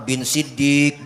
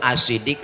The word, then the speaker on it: As-Siddiq: Ini kadang-kadang Bilal terawih masih salah bacanya di kampung. Al Khalifatu awalu Sayyidina Abu Bakar bin Siddiq bin Siddiq. Dia kira bapaknya kali Siddiq. Siddiq itu As-Siddiq lakob julukan yang membenarkan Rasulullah Isra Mi'raj.